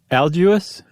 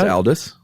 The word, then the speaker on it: Aldous: not the first name alguis Aldous what do you pronounce it as deleterious I think you'll you're swapping the U and the O Al dos Aldous I think it's Aldous oh I like algius